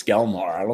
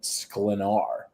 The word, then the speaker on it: Sklenar: I think it's Skelnar. Skelnar. Yeah, because you said it right earlier. All right, I don't care about Brandon. No, sorry, it's Brandon Sklenar.